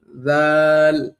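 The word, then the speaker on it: ذال: অনেকেই জাল এবং জাকে মিলায় ফেলেন। এজন্য অবশ্যই ২ টার মধ্যে পার্থক্য করে আপনার পড়তে হবে। নাইলে কিন্তু আপনার উচ্চারণ ভুল হবে। জা, জাল, জাল কোনোভাবেই জা এর সাথে মিলানো যাবে না। জা, জা, জা এটা সম্পূর্ণ আলাদা, জাল সম্পূর্ণ আলাদা।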